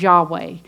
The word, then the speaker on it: Yahweh: all caps that is Yahweh I am the Covenant name God has with his people Israel so that the Hebrew word would be pronounced Yahweh and it's built on